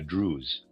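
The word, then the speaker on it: druse: so as to see how the sensory supra sensory dwells within it in various forms like crystals in a drews and how because they are in their drews their surfaces are truncated.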